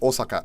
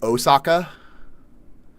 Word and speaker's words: Osaka: it, especially like Americans, they want to say Osaka. But like that's not how the O would be pronounced in Japanese. It'd be Osaka. Tuck. Oh, get fucked. That saves me time. Yeah, because in hiragana it's literally Osaka.